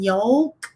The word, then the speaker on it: yolk: I'm about to get into the difference between yoke and yoke, right? Yoke, YOLK, yoke, YOKE, two different things.